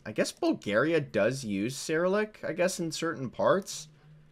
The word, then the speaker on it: Cyrillic: yeah that is sarah how do you pronounce it sirlik seralic cyrillic that's cyrillic i don't think i